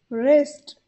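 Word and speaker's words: wrist: हथेली palm palm कलाई रेस्ट रेस्ट यहां पर भी डब्लू साइलेंट होता है और आर आई एसटी का प्रोनंसिएशन करते हैं तो इसे हम कहेंगे रिस्ट कोहनी एल्बो एल्बो हाथ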